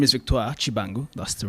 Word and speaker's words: Victoire Tshibangu: First of all, my name is Victoire Tshibangu. That's the right pronunciation.